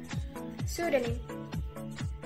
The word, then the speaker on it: pseudonym: P is not pronounced at the beginning of many words using the combinations PS, PT, and PM. For example, pneumatic, pneumonia, pseudonym, pterodactyl, received.